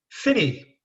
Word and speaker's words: Phinney: Well, I'm delighted to have John Finny from Convergence here on the podcast.